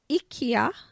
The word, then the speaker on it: IKEA: on when we were waiting to go to IKEA.